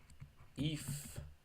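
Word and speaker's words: ευ: off or of and epsilon keeps it on and eat that you can also do the same thing it makes they make the sound F or F Eve or Eve and the way you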